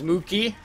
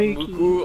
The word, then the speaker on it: Sookie: His name is Mookie, not Muku or Maki or what the other synchron is, but yeah, he's a soldier that he just doesn't stop.